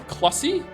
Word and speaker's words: Clussy: Not only is Clussy actually a portmanteau of clown and pussy, it's actually pronounced like pussy with a cl instead. Not like sussy with a cl. So it's Clussy?